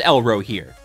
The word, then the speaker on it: Elrohir: elro here hello here why do I keep saying elro here is it elro here is it yellow here or elro here have I been pronouncing it wrong this whole time no it is elro here okay so yeah there's